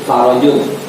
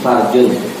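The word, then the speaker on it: فرج: Kayak kemarin kita kirim itu likul lidikin farojun. Dari setiap kesempitan pasti ada jalan keluar. Itu kalau salah-salah bacanya bisa jadi beda tuh. Likul lidikin farjun.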